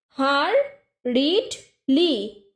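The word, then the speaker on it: hurriedly: তারপরে হারিডলি। হারিডলি মানে তাড়াহুড়ো করা। হারিডলিকে ভেঙে ভেঙে উচ্চারণ করবে হার রিড লি, হারিডলি।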